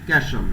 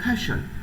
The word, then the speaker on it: casual: যদিও আমরা এটাকে আমাদের বাংলাদেশের যে প্রনাউন্সিয়েশন সেই ভাষা আমরা এটাকে বলি ক্যাশল, ঠিক না? আসলে এটাকে যদি আমরা ব্রিটিশ স্টাইলে উচ্চারণ করতে যাই, এটা তারা বলবে খ্যাশল।